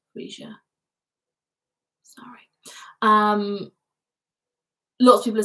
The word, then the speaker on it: Freesia: It's pronounced Freesia. Freesia.